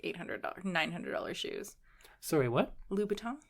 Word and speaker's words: Louboutin: $900 shoes sorry what lubaton with a B yeah lubon louton yeah louton how do you spell that like they spell it's not Louis vuon oh no no no Louis Lon is something different lubaton Christian lubaton oh